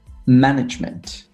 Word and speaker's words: management: So we'll say management, performance. Right. So management on the first syllable, performance on the second syllable, for example.